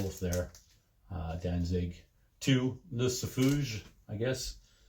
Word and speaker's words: Lucifuge: I I always am and and prone to put a French spin on that. Just the way it's it's spelled. L U C I F U G E, Lucifuge or Lucifer. I don't know. I I'm tend to say Lucifuge. Uh Danzig two, yeah, 1990